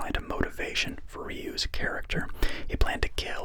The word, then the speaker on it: Ryu: Ken Masters' actor Damien Chapa said the name is pronounced Ryu as opposed to Ryu. Despite issues with this, D'Souza decided to use Ryu, believing it would be easier to pronounce for Western audiences, although Jean-Claude Van Damme